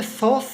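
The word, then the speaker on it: Psoas: उसके बाद है सॉस साइन। पीस का खामोश है, साइलेंट है, सॉस साइन।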